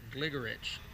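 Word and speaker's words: Gligorić: of the videos Kasparov Gary Kasparov pronounces it gligoric 685 uh Geller and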